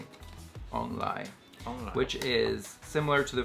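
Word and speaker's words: 王梨: In Taiwanese, pineapple is pronounced ong lai, which is similar to the phrase for the arrival and prosperity and fortune.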